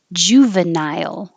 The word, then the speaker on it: juvenile: I put nile as two syllables to remind you to go high enough for the I. Nile. Juvenile. But you can nile, blend it together when you say it in the whole word.